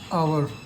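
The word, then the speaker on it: hour: uncle इसको पढ़ोगे आप आवर एच ओ यू आर उच्चारण किया तो ये स्वर आ गया स्वर आ गया एनवर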